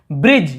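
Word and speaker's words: bridge: लेकिन ई को देख रहे हैं तो हम यहाँ पे ब्रिज केवल ब्री और जीए को पढ़ रहे हैं। डी तो साइलेंट है, ई भी साइलेंट है।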